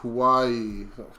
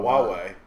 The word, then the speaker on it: Huawei: Hawaii. Chinese network. Oh, Huawei. Huawei, yeah. Is that how you pronounce That's that how you shit?